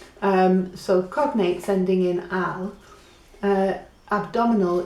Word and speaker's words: abdominal: I've got this page from Language Learning Journal, so cognates ending in al, abdominal is abdominal, so la diferencia is where you land. It's abdominal, right?